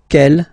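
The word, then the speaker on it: quel: for the phonetics okay the way to pronounce them Kel masculine form here will be pronounced exactly as the feminine form here K so only one sound okay and then the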